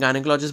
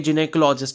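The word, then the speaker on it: gynecology: जो प्रोनाउंस होता है वैसे तो हम अपनी लेम लैंग्वेज में गाइनेकोलॉजिस्ट बोल देते हैं लेकिन यहां पर अगर आप करेक्ट प्रोनाउंस देखोगे तो ये जिने कोलॉजी होता है ठीक है जिने कोलॉजी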